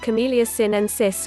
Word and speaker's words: Camellia sinensis: Green and black teas originate from the same tea plant, Camellia sinensis, pronounced like Camellia sinensis, which means both green and black brews contain